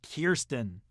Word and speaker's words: Kirsten: Dunst from interview with the vampire yes it's pronounced Kirsten you know who else was in an interview